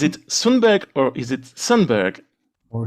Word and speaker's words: Sundberg: Is it Sundberg or is it Sundberg? Or Soundberg. Yeah, you could also Sundberg, we say in Sweden, Sundberg, with jot in the end, but it's free.